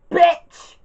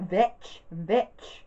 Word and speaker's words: Vitch: to call her, Professor Bitch. They can't say her name right, so that's because I can easily say it, Vitch.